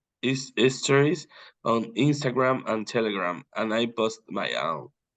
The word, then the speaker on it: Telegram: pretty famous for example I say telegram it's like an e that becomes an A in your mouth like Telegram Instagram telegram